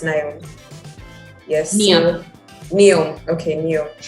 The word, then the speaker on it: Neom: Is it pronounced Neom?